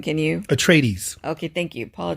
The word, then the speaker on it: Atreides: it does tell about paul which i can't pronounce his last name can you atrees okay thank you paul tradies a brilliant and gifted young man born into